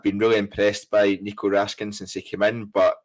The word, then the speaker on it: Raskin: We saw Raskin. I was going to go for Ross's Raskan pronunciation there and then thought better of it.